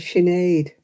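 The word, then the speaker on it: Sinéad: them and you thinking oh how do you pronounce that and chenade it's like sin is it you know when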